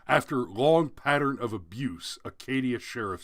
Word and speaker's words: Acadia: sorry it's a parish that means it's it's pronounced acadia said a cage of parish sheriff kp gibson